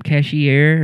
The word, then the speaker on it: Cashier: Cashier. Like the nigga that run the register.